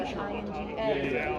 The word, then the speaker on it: Inga: Yeah, she had a I had a boss for 7 years that called me Inga, I-N-G-A.